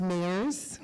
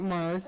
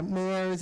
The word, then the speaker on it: Mayers: For the record, it's Mayers, my last name, not Mars, yeah, Mayers, it rhymes with stairs or, hairs with the M.